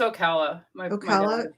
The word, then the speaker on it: Ocala: come and visit ocal ocala is that how you say it yeah it's ocala she's there and i